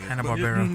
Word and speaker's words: Hanna-Barbera: Hanna-Barbera. I don't know how to say it. Hanna-Barbera.